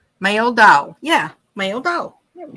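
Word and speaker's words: Meldahl: go male dog okay that's close thank you pronounce male doll yeah male doll there we go they're pronouncing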